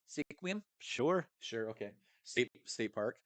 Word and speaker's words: Sequim: and at uh how do you say it sequium Sequim sure sure okay state park right Sequim what